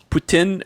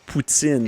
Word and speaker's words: poutine: says is it pronounced putin or poutine it's pronounced boots in in the team what's in that is the correct pronunciation yes well it's just however the French pronounce it yes boots in it